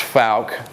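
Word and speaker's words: Fouke: So, as as I said, this strange word is pronounced Fal. Uh Fal, Arkansas is lo located in Miller County, which is southwest Arkansas.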